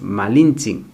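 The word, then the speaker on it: Malintzin: malinche malinches porque luego he escuchado que nos referimos a ella como así con esa pronunciación malinche y no es así es malintzi o malinalli doña marina y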